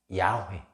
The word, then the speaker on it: 야훼: 말하자면 야훼, 우리가 하는 여호와라는 것이 야훼라고, 그러니까 발음상은 야훼한데 우리 음역으로 보면 여호와예요.